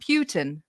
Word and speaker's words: Putin: We're going to we are going Putin. Is that it? You want me to say it like a a British person? Putin. Um, but anyway, uh, yes.